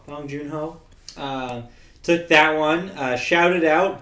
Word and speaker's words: Bong Joon-ho: How do you pronounce his name? Bong Joon-ho. Bong Joon-ho.